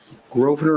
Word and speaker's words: Grosvenor: Grosvenor, am I pronouncing it correctly? Yes, sir. The S is silent.